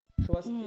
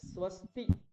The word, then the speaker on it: স্বস্তি: আছে কিছু কিছু জায়গায় ভুল হচ্ছে আপনার সোস্তি হয়ে যাচ্ছে স্বস্তি বলতে হবে সকারটা স্পষ্ট আসবে হ্যাঁ সোস্তি স্বস্তি হ্যাঁ